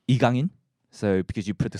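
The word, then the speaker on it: 이강인: It's in proper Korean pronunciation. It's called Igangin.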